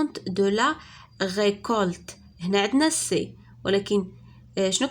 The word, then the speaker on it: récolte: Et dans récolte, C se prononce K.